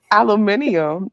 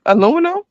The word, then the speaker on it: aluminium: They pronounce it differently. British people say aluminium.